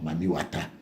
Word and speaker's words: Mami Wata: some parts of Nigeria, where people pronounce the word water, Wata. So when you get the word Mami plus Wata, then you get Mami Water or Mami Wata.